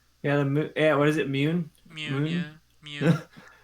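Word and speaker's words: Muun: is it mewn yeah i realized i was pronouncing it wrong in my head the whole time i read darth plagueis and then i had to like adjust my mental pronunciation of the word immune because i was saying moon like the like the celestial object yeah it's weird to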